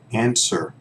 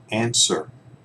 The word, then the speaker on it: answer: these first one is answer answer remember we don't pronounce that W here that's silent okay so as in that answer its answer okay look look thanks